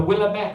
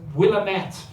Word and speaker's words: Willamette: the evidence for this is a meteorite the willamette i'm i was told that i don't pronounce this correctly the willamette willamette the willamette meteorite which is a 15-ton